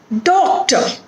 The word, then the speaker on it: doctor: Doctor. Here the syllable that is stressed is do.